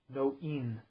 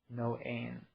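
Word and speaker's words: noein: The actual word translated as thinking is knowing, spelled N-O-E-I-N, no-in. That word is equivocally translated as consciousness or awareness. Interjecting here, that's where we get the no spelled with a K-N-O-W, is from no-in, no-ain.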